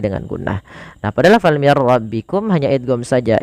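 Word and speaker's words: مِنْ رَبِّكُمْ: Nah, pada lafal mir rabbikum hanya idgham saja. Idgham itu memasukkan. Maka nunnya dimasukkan ke ra dan tidak boleh ditahan. Mir rabbikum saja.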